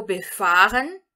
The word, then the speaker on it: befahren: Ou seja, o verbo befahren vai significar transitar em ou circular em. E aqui, cuidado, nós vamos entonar a segunda sílaba dele.